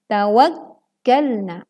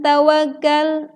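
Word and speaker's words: تَوَكَّلْتُ: kwak Alaihi Wa Alaihi tawakkaltu hati-hati disini terkadang saat Cafe bertasydid kita membacanya kurang menekan seolah-olah khasnya tidak bertasydid edangkan ini ada tested maka Tekanlah dengan terdengar suaranya kawan kena Bukan tawakal tawakal tetapi kawan n******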